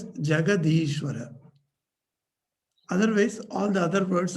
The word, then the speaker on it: Jagadishvara: But when you make Jagat and Ishvara together, it is pronounced as Jagadishvara.